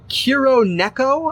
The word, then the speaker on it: Kuroneko: And Kuroneko, I believe is how you pronounce that one.